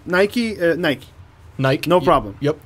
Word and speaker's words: Nike: does I did Asya we say Nike rest the world says nice yeah like there's another